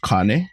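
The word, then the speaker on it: kāne: so the first one it would actually be pronounced Kane Kane yeah so Kane means male or any like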